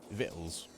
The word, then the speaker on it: victuals: look like it but it rhymes with little uh little veils yeah as in vittles I didn't really like